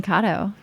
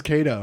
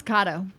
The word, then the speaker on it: Kato: Oh, I'm Kato. Oh, it's pronounced Kato? Did you think it was Kato? I've always thought it was Kato.